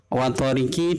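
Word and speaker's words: والطارق: Yang kedua wathariq, wathariqi dibaca wathariq. Itu sukunnya qaf tidak asli, akan tetapi diwakafkan.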